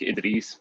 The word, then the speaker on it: Edreese: Edreese works, Edreese, either one. Okay. Edreese? Yeah. Like Ed Reed? Yeah. Okay. Well, like the way we pronounce it, like in Farsi is just like Idris, but I don't expect Okay.